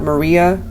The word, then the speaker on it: Mari: Maria. I'm also hearing Mari, even though it looks like Mary. It's pronounced Mari.